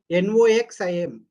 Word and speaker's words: Noxim: Yeah, spell it. NOXIM.